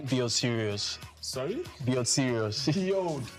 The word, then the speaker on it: Sirius: r i u s serious yes s i r I thought it was like serious okay like serious no no also serious the radio xm yes both nice so so introduce yourself.